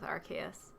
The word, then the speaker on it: Arceus: the jewel of life I know there's a lot of drama about how to pronounce Arceus but um that's what we're going with Arceus cuz it's like an arc like always think of like an arc like what I'm